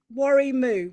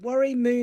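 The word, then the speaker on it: Warrimoo: r i m o too many but um worry moo worry moo no more is there a ukulele club or a group in worry moo no no there's not even a shop in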